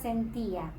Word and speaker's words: sentía: La sílaba tónica es ti y lleva tilde.